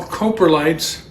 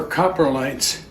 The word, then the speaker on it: coprolites: interesting uh down here these are all coprolites or copper lights I think it's pronounced a couple different ways but what I want